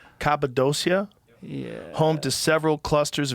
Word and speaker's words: Cappadocia: Cappadocia, Yeah.